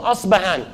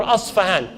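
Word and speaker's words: Isfahan: He goes to Asbahan or Asfahan. This city exists till this day. Where is it? This is clear. It's in Iran. And Asfahan or Asbahan, both ways of pronunciation, it has today the largest Jewish community outside Palestine.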